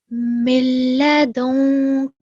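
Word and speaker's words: مِن لَّدُنكَ: Milladunka. Okay. That was good. Milladonka. Okay. Make sure ka is short, very short, 1 second long.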